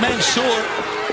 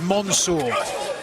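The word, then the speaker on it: Mansoor: one and look at manour for the choke I believe the proper pronunciation Tony is Monsour Monsour manour I apologize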